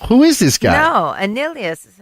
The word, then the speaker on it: Annihilus: No, Annihilus. Annihilus.